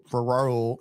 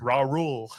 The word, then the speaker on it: Raul: Raw rule. Raul. Sound like Ja Rule.